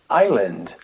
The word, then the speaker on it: island: je le refis sol la consonne s dans certains mots mais sa jamais trop pourquoi est-ce que ça se prononce pas mais par exemple dans une île on va dire Island Island Island regardez comment ça s'écrit Island un mot que j'aime